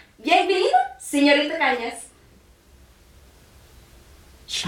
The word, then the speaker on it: Cañas: and says, "Bienvenida, señorita Cañas." She pronounces my name right. That never happens in Australia. It's Cañas, not can-as.